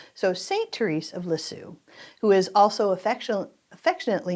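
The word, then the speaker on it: Lisieux: The correct way of pronouncing our next saint is St. TZ of Liz Sue.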